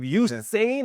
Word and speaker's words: Usain: You don't have to be the next Eugene. How do you say his name? Bolt? Usain Bolt.